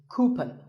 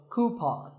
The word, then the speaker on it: coupon: one of these a coupon a common incorrect pronunciation is cupen but the second syllable should be pawn so coupon here's word number 16